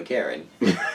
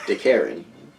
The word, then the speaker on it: DeKarrin: You keep purposely mispronouncing his name. Listen, as long as he keeps ruining my fun, I'm gonna keep calling him a Karen. DeKarrin.